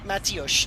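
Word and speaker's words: Mateus: I had too much Matthias to drink. it's a Portuguese wine, the one in a funny bottle. You've never heard of Matthias? Probably not spelled like you spell it. M-A-T-E-U-S. Yeah. Matthias. Oh, for goodness sake.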